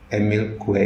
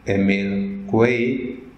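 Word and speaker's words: Émile Coué: pemilik kue satu tengah dia orang Perancis cara membacanya God ini Emil Hai itu cara bacanya dalam bahasa Perancis Emil kue ini dia tinggal di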